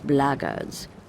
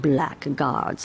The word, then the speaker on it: blackguard: another one of those blaggards and that's the way to pronounce it not blackguards like that thug insisted it was then my answer is